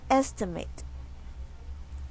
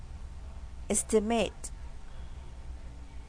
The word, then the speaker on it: estimate: estimate estimate estimate estimate could be pronounced in two ways as a verb it is pronounced as estimate as a noun it is pronounced as estimate so this word is